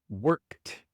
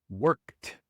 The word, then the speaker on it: worked: Worked. La e no se pronuncia y la d se pronuncia como t. worked.